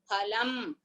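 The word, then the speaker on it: फलम्: See, in Hindi they will pronounce it as Fa. We must never tell this as Fa by mistake also. There is no letter in Sanskrit as Fa. We must only pronounce like Pa.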